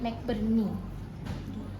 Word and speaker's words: McBurney: MC Burne, BURNEY. Bacanya McBurney. Jangan nanti kita ketat di titik tadi temanmu MC Burne ya. McBurney.